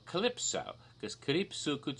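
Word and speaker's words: Calpis: almost glowing color and in Japan it's called Calypso Calypso but they spell it on the label even in Japan in English letters see al p.i.s it looks like it reads cow piss what it's cow piss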